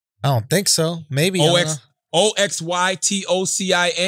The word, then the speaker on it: oxytocin: O-X-Y-T-O-C-I-N. How do you pronounce that? Oxytocin. Oxytocin.